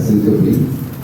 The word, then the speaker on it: syncope: One point, I mean, just because this patient had syncope, the correct pronunciation is syncope, systole, diastole. All three you got wrong.